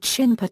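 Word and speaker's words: shinpū: More specifically, air suicide attack units from the Imperial Japanese Navy were officially called Shinpa Tokubetsu Kōgekitai.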